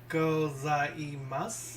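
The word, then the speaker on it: ございます: Go, like go. Za. Goza. I. Gozai. Mas. Gozaimasu.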